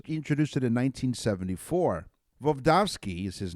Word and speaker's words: Voevodsky: Voevodsky is his name, because I mispronounced it the first time, studied the effects